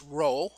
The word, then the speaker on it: rho: spelled in english rho pronounced row as in row row row your boat okay uh and it